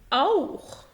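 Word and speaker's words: auch: إذا جاء حرفين السيها وقبلهم أ أو أو الحرفين المركبين أو أو بينطق خ، يعني مثلا أوخ، أيضا أوخ، ناخ. جرب هنا بوخ، أوخ يعني أيضا، ناخ يعني إلى، بوخ يعني كتاب.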